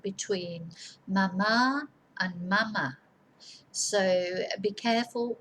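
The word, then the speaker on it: mamá: mother is madre a mom or mommy is mama with an accent on the second a mama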